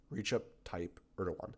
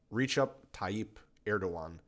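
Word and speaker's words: Recep Tayyip Erdoğan: talk about um the man of the hour reach up type erdogan this is the president of turkey reach up type erdogan i recommend that you learn how to say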